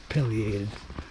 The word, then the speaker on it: pileated: Some people also say pileated, but it's your preference of pronunciation, but I believe it's supposed to be pileated.